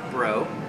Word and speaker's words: Braud: about it yet, but it's Braud, as in David, and it's pronounced Bro because it's a French Cajun last name.